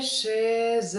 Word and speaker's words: chez: Je vais chez un ami. 6 syllabes. Les cercles orange marquent les syllabes formées par une liaison. Le z de chez rejoint un, le n de un rejoint ami.